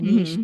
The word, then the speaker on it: niche: and he's just found a little Nish right there or a niche depending on your pronunciation of it uh where he